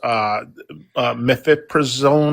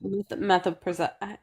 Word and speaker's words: mifepristone: someone said the topic was mifepristone or whatever, and the Supreme Court's ruling. Is that what it is, or I just want to make sure I'm on topic. Yeah. Yeah. Methylpristone.